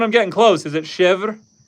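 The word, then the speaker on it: chèvre: And in chevra, in English, we don't pronounce the r e. We just pronounce it chev. But that's good to know. In French, it's chevver.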